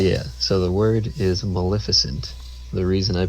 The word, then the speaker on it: Maleficent: But yeah, so the word is Maleficent. The reason I pronounce it like a dummy is because of the way it was pronounced in the movie.